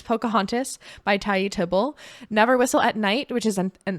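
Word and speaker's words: Poukahangatus: But for this one, I put Pocahontas, which that's how you pronounce that word. It does not look like, it looks unexpected, but it's Pocahontas by Tayi Tibble.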